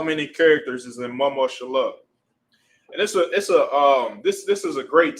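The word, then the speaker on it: ממשלה: And the way to pronounce government in Hebrew is mama shallah.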